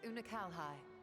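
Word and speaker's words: Unukalhai: You remember Unakalhai, Oh, the unusual child we met during our troubles with the Warring Triad?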